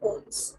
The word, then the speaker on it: ohm: This symbol is called omega, but the pronunciation and the name of this quantity SI unit is ohm.